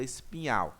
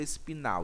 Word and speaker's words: espinhal: Mas em alguns locais vocês podem encontrar o nome, medula espinal, escreveram errado. Não, não é que escreveram errado, é porque tem essas duas pronúncias, tanto medula espinal como espinhal.